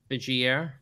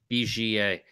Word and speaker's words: Vigier: Biggier. Am I pronouncing that right? I don't know. If we can get close, it's better. Oh, Vigier. Vigier. Yeah.